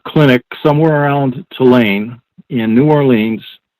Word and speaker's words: New Orleans: somewhere around tulane in new orleans or new orleans this is the right way to pronounce it and all of a